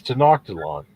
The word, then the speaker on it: Tenochtitlan: I think he's saying Tenochtitlan, but you could also pronounce it if you want it hard K for the CH. It's Tenochtitlan.